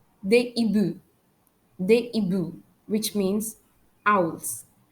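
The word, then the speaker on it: hiboux: H is a silent letter. For X, they ibu.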